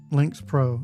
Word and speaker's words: Lynx Pro: Links Pro. LY Hold on. I closed it. I probably should spell it.